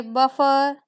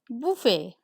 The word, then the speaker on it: buffet: Some say buffer, some say buffet, but the correct pronunciation is buffet.